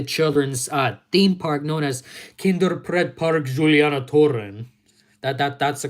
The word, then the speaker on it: Kinderpretpark Julianatoren: One day I'm gonna be the first American person touring the Netherlands and visiting the children's theme park known as Kinderpretpark Julianatoren. That's the correct pronunciation.